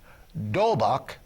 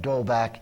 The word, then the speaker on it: D'Holbach: Well, for me, I think a very famous French thinker, D'Holbach, that's spelled capital D''Holbach, D'Holbach, I think, provides the best guidelines I know of to determine what is moral and what is not.